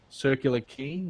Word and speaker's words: Circular Quay: departs from Circular ke circular key I always say circular quay for the circular key and that passes the